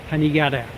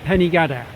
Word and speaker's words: Penygadair: And because the highest peak, Penygadair, spelt G-A-D-A-I-R, I'm going with that pronunciation, Penygadair. Now, I've seen it spelt C-A-D-E-R, Idris, and Penny, G-A-D-E-R. And I've even heard that pronounced Penygadair. I'm going to stick with Penygadair.